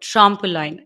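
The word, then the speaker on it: trompe l'oeil: of times before we started to call it trample line am I right oh that's perfect it's it's so much better than my pronunciation yes that is perfect I was like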